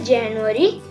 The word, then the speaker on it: Januar: See, in this slide I highlighted three things: in English, in German and the pronunciation. So we should tell January, Januar.